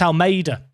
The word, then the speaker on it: Almeida: Unfortunately, I say Armada. It's Almeida. Helps if you say his name correctly.